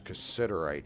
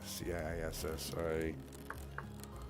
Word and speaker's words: cassiterite: Um you can use cassiterite for a mordant.